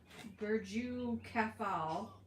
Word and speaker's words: Burj Khalifa: Which is taller, the Burj Khalifa, the world's largest building, tallest building, or Angel Falls, the world's highest waterfall?